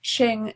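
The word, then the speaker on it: Qing: over and created the Ching dynasty q is pronounced ch here so that it's not Q it's check so the Ching dynasty in 1644 and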